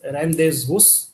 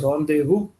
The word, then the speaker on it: rendezvous: This is not pronounced as rendezvous. It is pronounced as rendezvous and basically means two people meeting at a agreed time and place.